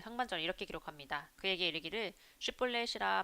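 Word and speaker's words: 쉽볼렛: 하며 그가 아니라 하면 그에게 이르기를 슈볼렛이라 발음하라 해요. 에브라힘 사람이 그렇게 말로 말하지 못하고 시볼렛이라고 바람하면 길라 사람이 곧 그를 잡아서 요단강 나르턱에서 죽였더라.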